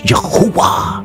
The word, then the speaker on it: Yahuwah: So in other words, you say Yah, Yahuwah, Yahuwah, Yahuwah.